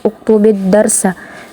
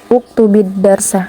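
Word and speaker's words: اكتب الدرس: Sedangkan di sini e sukun bertemu dengan sukun bertemu dengan la sukun. Kanya dia dikasrahkan di tengah-tengahnya. Jadi dia uktubid darsa. Uktubidarsa.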